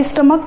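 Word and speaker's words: stomach: अब स्टमक यहाँ पर जो CH का प्रोनाउंसिएशन है वो चा ना होकर का हो रहा है, और जहाँ पर का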